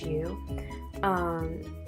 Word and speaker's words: Oahu: Some places that you can go visit is the North Shore of Oahu, I think that's how you say it. It's Oahu.